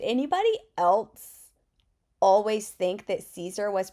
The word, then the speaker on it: Siser: pronouncing their name and it's definitely pronounced Caesar anyways I am almost